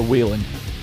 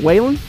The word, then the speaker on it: Whelen: And there's, as there always is in NASCAR, there's two ways to pronounce it. I've always known it as either the Whelen or the Wheelan. Which one is it? Whelen? I believe it's Whelen. Whelen Series? I believe it is the Whelen.